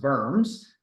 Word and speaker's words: Worms: and impune its dignity the diet of worms uh should be pronounced BMS um is basically where he